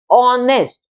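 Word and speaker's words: honest: रही है ओ की ऑनेस्ट ऐसे हम बोलते हैं इसको ऑनेस्ट तो साउंड वॉवेल साउंड है इसलिए इससे पहले हमने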